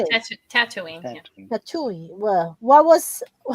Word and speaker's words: Tatooine: Tatooine.